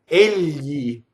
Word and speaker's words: egli: Now, if we go to the end of the GL, it's a YI. Yi, right? So before that, it's preceded by an L, right? So the L has to be high in the palate.